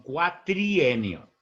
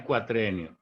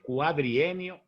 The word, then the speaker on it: cuatrienio: todo era cierto que la palabra cuatrenio es asesina porque no se dice cuatro sino cuatrienio o cuadrienio no es cuatrenio es cuadrienio o cuatrienio pero siguiendo a dar